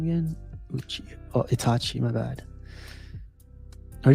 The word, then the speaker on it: Uchiha: How do you pronounce his name again? Uchiha.